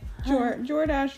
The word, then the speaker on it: Jordache: Yeah, it's like, no, it's like Jordache rhymes with DoorDash.